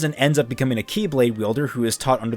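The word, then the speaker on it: χ-blade: war was centered around a weapon called the Chi blade which is technically pronounced Keyblade but that's going to get confusing fast so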